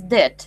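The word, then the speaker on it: debt: it's um MH uh pronunciation is Deb Deb de without B without B you don't pronounce b just Deb Deb it's money which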